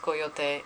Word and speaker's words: coyote: ] coyote right now it's technically pronounced coil thing but I don't want people to get annoyed if I keep saying coil day as I'm talking so just know that it's pronounced coil day and I know that